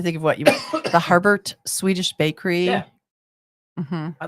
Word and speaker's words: Harbert: Harbert, Michigan.